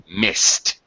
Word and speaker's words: missed: sh sound sh the pronunciation of the Ed past tense ending will be T so missed okay quickly T sorry